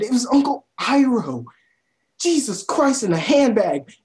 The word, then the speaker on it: Iroh: His name is Iroh. They say his name in the show all the time. It's Uncle Iroh, not Uncle Eero, not Uncle whatever the fuck they said. It was Uncle Iroh.